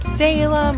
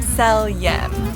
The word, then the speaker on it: Selyem: well people often think even william selium is pronounced william salem or often william sonoma but it's actually william seljen another common misuse of of the winery and